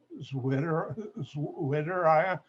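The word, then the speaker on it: zwitterion: my mouth feel funny sweeter litter i this is vitoria in german of w is pronounced like we say v and that's a molecule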